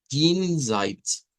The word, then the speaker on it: Jenseits: Entonces, por eso aquí en el idioma Deutsch no es como G, vean, no es así como he. He decimos nosotros, pero aquí se dice G, Jenseits, Jenseits.